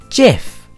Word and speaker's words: GIF: internet for short animations is it pronounced with a hard G or a soft G it is pronounced with a soft G Jeff Jeff thanks for watching